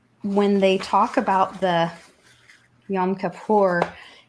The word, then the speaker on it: Yom Kippur: It's pronounced Yom Kippur.